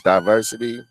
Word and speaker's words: Diversid: My name is Diversity. It's spelled D I V E R Si D.